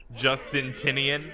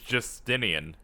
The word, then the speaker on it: Justinian: at Justin tinian here Justin tinian I I think that's why you say his name it's Justinian there's no te there you know back